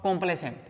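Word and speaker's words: complaisant: होता है कंप्लेसेंट और कंप्लेसेंट कंप्लेसेंट और कंप्लेसेंट देखो मीनिंग में भी उतना ही फर्क है जितना स्पेलिंग में मैंने बोला प्रोनंसिएशन सेम है यह है सी ओ एम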